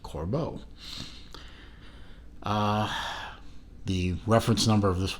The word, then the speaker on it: Corbeau: from talking to the company that it is pronounced Corbeau the reference number of this watch is C